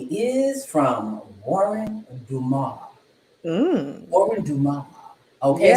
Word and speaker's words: Dumas: Warren Dumas. Okay, spelled WuhryndUmas. The S is silent. Dumas. It's French, baby. Absolutely.